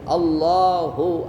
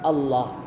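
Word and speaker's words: الله: dilakukan sama orang kita Apa itu memanjangkan kalimat Allah a kalimat pernah dengar orang seperti itu Allah Allah Allah itu nggak boleh panjang kalau Hamzah itu dipanjangkan jadi bacanya maka itu berubah menjadi artinya Apakah Allah Apakah Allah jadinya jadi nggak boleh yang ada tasydid Allah Allah tidak boleh Allah nggak boleh begitu bacaannya baik yang jadi makmum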